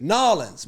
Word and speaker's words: New Orleans: Nolans.